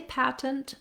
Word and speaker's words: patent: sounds it's pretty tough if you say patent with the with the t sounds you'll be well understood it's an acceptable way to pronounce the word as well but you probably noticed if that's a word that you struggle with that when you hear americans saying it they don't often use those t's and that's the difference